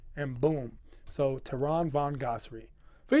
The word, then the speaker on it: Von Ghasri: How do you pronounce it? Von Ghasri.